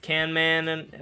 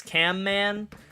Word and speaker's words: CanMan: Little known fact, guys, but his name is actually CanMan. A lot of people think it's CamMan, but I talked to him and he told me it's CanMan.